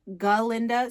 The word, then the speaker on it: Galinda: professor at shiz University he cannot pronounce her name galinda so he says Glinda and galinda is like that's not my name but Dr Dillman goes